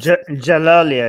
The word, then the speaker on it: Djalali: swedish iranian scientist is jalali i think i think that he is the d is silent thank you um is